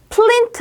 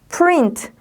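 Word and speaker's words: print: 인 트 트 린트 플랜트 아니에요 프린트 자 출력하는 거 프린트 라고 얘기하자 프린트 라고 읽어주시면 됩니다 ts 222 oo 아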